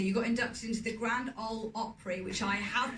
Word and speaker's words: Grand Ole Opry: You got inducted into the Grand Ole Opry, which I have pronounced correctly.